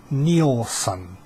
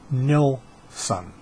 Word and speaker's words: Nilsson: whole story here his name is it's not pronounced Neal son it's nil son everybody everybody calls him Nielson Lennon called him Nielson it's Nelson and it